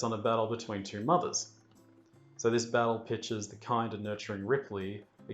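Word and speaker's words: MU-TH-UR: really the ship's computer ma it's pronounced mother i don't know why it's written that way according to ridley scott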